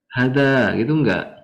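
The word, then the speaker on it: هذا: Nah, ini intinya hada ini bacanya hanya panjang.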